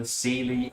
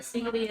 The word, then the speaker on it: Seelie: There is an ongoing power struggle between the Seelie and the Unseelie courts. Who's the Knuckles? The Seelie, which is spelled S-E-E-L-I-E. S-W-I-L-E. I-A-S-D-I. Sealy and the Unseelie.